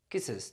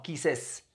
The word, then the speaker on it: kisses: agrego e s kisses recuerden pronunciar la e y la s kisses no kises kises algo muy rápido una i o una e muy rápida ella besa Él besa